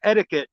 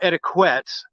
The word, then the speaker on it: etiquette: my chair Tourette's syndrome I think the word you're looking for is etiquette not etiquette and I thought you would be old enough to pronounce it but before you were old enough to spell it and she [ __